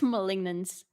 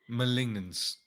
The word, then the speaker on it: Malignance: malignance malignance Mal Molin I listened to Google Translate pronounce it like 10 times when I first saw this items I think it's malignance malignance yeah funny items in